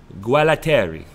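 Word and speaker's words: Gualtieri: peace offering to Europe so Roberto Guerra Terry as far as Tommaso has told me is the correct way to say his name has been appointed to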